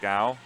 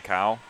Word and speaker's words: Gao: His name is pronounced Gao. Yeah. He's fine with everybody calling him Cow, and he does indeed tell people That's that how it's, that's that how it's he tells.